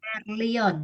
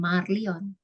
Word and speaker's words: Merlion: Ya, terus Merlion ya, bukan Marlion.